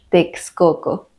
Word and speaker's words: Texcoco: palabras X en medio cuando la x coloca en medio de la palabra normalmente suena como ks que es el sonido más conocido de la x por ejemplo examen exito taxi algunos topónimos que siguen esta regla son Tuxpan Atlixco Texcoco y algunos topónimos que